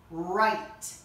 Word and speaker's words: write: I can read the stories I write. And there's a silent letter at the beginning of write, and it's W.